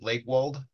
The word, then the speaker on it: Lakewold: of the way uh are we pronouncing your name correctly that Lake wal yes correct okay so um would